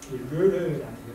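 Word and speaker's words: Lheureux: 그래서 이제 그 사치의 돈을 아까 르르라는 브로로 르르 이렇게 있거든요. 르르 끝에 X는 발음이 안 하고 르르에게서 돈을 빌려서 사치스러운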